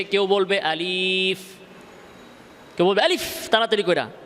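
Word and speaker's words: ألف: মক্তবে আলিফ এমনে না আলিফ এর মধ্যে টান নাই আলিফ আবার এরকমও না আলিফ এরকমও না স্বাভাবিক আলিফ বুঝে আসছে আলিফ এই উচ্চারণও ভুল আলিফ এই উচ্চারণ ভুল সঠিক কোনটা আলিফ আলিফ আলিফ শেষে ফার মধ্যে ধরে রাখতে হবে আলিফ এভাবে তো এভাবে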